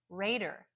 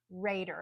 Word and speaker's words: raider: exactly the same except the second syllable is reduced it's unstressed and that would be the word Raider Raider you hear the strong Ray at the beginning but then it's just dur because is unstressed Raider a Raider is like